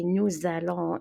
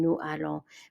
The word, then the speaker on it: nous allons: I add a z sound, or we add a z sound when we speak in French. So we say nous allons instead of saying nous allons.